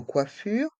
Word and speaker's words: coiffure: on salon de coiure dans le mot coiffure les voyelles o et i se prononce qui et le r reste en suspens coiffure coiffure le SAL